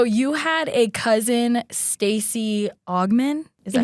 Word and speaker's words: Augmon: So you had a cousin, Stacey Augmon.